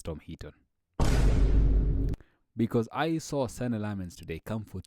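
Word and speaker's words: Senne Lammens: Let's talk about Sene Lamens. Sene Lamens. I was getting his name wrong the entire game. I was just talking about Lame Simmons.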